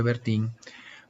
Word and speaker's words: Bertin: Se escribe Bertin, pero se pronuncia Bertin.